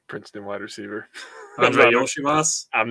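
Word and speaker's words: Iosivas: Andre Yoshivas? I'm not embarrassing myself. He's from Mario. It's Yoshi and then Vas. Yoshivas.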